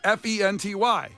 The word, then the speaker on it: Fenty: It's spelled phonetically. Wait. Fe N T Y. Yeah, you're good. Fenty.